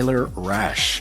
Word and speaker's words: Rasch: down and getting to know more about t rash uh did I pronounce that correctly yeah yeah yeah yeah rash